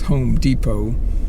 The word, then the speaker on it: Home Depot: Here, D-E-P-O-T, the T is silent in English, so it's Home Depot, and get some little